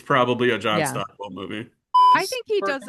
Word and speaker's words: Stockwell: I really like Keith Gordon in it, but I also was wondering where is John Stockton? Stock I said it right. Stockwell.